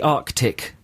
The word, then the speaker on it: Arctic: Do you like to pronounce the two C's in Arctic? Arctic, yes. I wouldn't do it as over-the-toply as you just I think done. if there's a second C there, it should be pronounced Arctic.